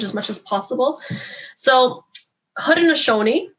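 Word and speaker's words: Haudenosaunee: much as possible so hood and ashoni the way i'm saying it right now is the kyoga translation and what it means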